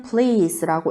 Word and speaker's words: please: P는 P 소리가 나고 L 리을 소리인데 앞에도 한번 더 넣어줘야 되죠. 그 다음 EA가 붙어서 이 소리가 길게, 그 다음 S는 모음 사이이기 때문에 Z 소리가 나요. 자, 이거 우리 잘 봐둬야 됩니다. 요 단어. 자, 읽을 때는 please라고 읽고 무슨 뜻이냐면 부탁의 의미를 나타내는 거예요.